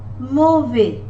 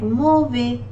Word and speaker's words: mauvais: Mauvais, AU. Whenever you see the combination of these two letters A and U, they are mostly pronounced as letter O in English. Like mauvais, mauvais, S is not pronounced again, which is a consonant.